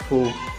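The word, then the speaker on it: ふ: जब भी हम कोई वर्ड लिखेंगे रोमाजी में तो FU फू से स्टार्ट करेंगे और हिंदी में मैं आपको प्रोनाउंसिएशन बता देता हूँ फू।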